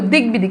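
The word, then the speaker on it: দিগ্বিদিক: যে এগুলো সন্ধিবদ্ধ শব্দ যেমন দেখো দিক-বিদিক এই যে দেখো এখানে বফলার এই যে বটা ব এর উচ্চারণ আছে দিকবিজয় এখানে দেখো ব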